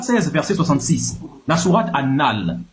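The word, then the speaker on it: An-Nahl: Sourate 16 verset 66 la sourate annal, moi je dis c'est a N- N A H L mais ça dit anal mais moi si tu prononces ça rapidement tu dis la sourate anal.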